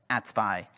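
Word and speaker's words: AT-SPI: provider interface or atpi which I will pronounce as atpy for brevity atpy was first implemented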